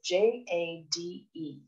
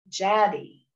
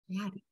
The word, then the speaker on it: Jade: She pronounces it Jaddy. Jaddy. And I struggled with that. And eventually I thought of Chatty. So in brackets beside her name, I have rhymes with Chatty, Jaddy.